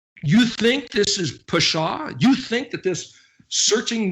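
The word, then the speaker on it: פשע: Like the abominations, and this is the word Pei Shin Ayin, the word we talked about last week that's pronounced Pashah.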